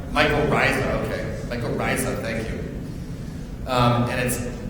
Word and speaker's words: mycorrhiza: Mycorrhiza, if I'm pronouncing it correctly. Mycorrhiza, okay.